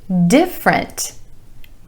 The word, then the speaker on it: different: every day number three different different I know it looks like it should be different but only two syllables here emphasis on the first syllable and that a vowel sound different different something different